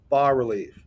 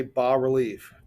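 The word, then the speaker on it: bas-relief: bass relief British pronounced bar relief Ebenezer Scrooge says ba humbug and art historians say ba relief Bas is pronounced ba all right High Relief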